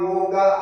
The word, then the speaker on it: योग: जैसा अभी कहा गया ये जो योग शब्द है जिसको आजकल अंग्रेजी में योगा कहते हैं। योगा इसमें क्योंकि अंग्रेजी का उच्चारण के हिसाब से वो योगा हो गया तो पूरा वर्ल्ड में आप योगा ऐसा प्रस्तुत है और हिंदी में हम योग कहते हैं क्योंकि वो योग जो है हलंत करके करते हैं हिंदी भाषा की अपनी विशेषता और है संस्कृत में ये योग ऐसा संस्कृत में पूरा उच्चारण सही उच्चारण होगा योग योगित वृत्त निरोधा ऐसा